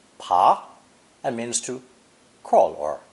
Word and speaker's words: 爬: When the downturned hand radical is given the pa phonetic, it's pronounced pa and means to crawl or climb.